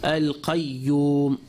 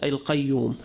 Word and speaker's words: القيوم: So it gave examples. Al-qayyum, al-qayyum. People would say, without the shadda, to neglect the shadda, al-qayyum, al-qayyum. Or sayyat, sayyat, as-sayyat.